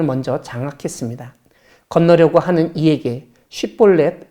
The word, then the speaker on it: 쉽볼렛: 장악했습니다 건너려고 하는 이에게 쉽볼렛 발음을 시켜 10볼넷이라고 잘못 발음하면 잡아 죽였습니다 그때 죽은 에브라임 사람